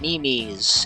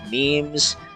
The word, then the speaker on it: meme: to make him smile are these silly internet mimes and gifs I just want to be able to make him smile too first lesson it's pronounced memes and GF with the hard G here for